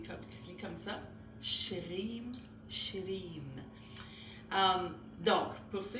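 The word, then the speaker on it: श्रीं: parfait dans votre prononciation mais shrim comme ça donc le s en sanscrit un accent ça se prononce SH comme un ch ça ça va le r ben c'est comme un peu un un r espagnol ou italien c'est roulé avec la langue re ok donc ch le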